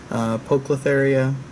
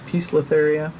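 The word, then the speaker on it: Poecilotheria: my previous videos that I've said polka therea I believe the correct correct pronunciation is I think somebody has informed me is peaceless area so I'm gonna try to do a piece listeria going forward but you'll see if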